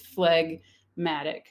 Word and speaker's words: phlegmatic: thing that gives us phlegmatic where we do say g right flag if it's separated in syllables it's flag matic but phlegm which comes